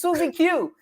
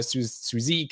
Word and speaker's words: SuzieQ: rock and roll history it's susie q it's a ccr song oh okay yeah yeah i i'm sorry i i was one of those fools who pronounces suzie in fact i was talking to uh ray donato and you know we were talking about different testing uh tools and frameworks and observability and i i actually called it suzek and so thank you